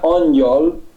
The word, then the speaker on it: Angyal: En húngaro mismo, si aquí después de la G, no sé si se ve bien en tu pantalla, ponemos GY, se pronuncia Angyal y significa exactamente ángel.